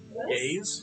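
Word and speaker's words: geas: Gaze. Is that what you just said? G A E S. Oh, I've never heard that. I can pronounce myself and then I have to do the things I said. Irish has a fascinating spelling has fascinating spelling rules.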